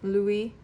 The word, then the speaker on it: Louis: So, Louis. That's how you pronounce his name.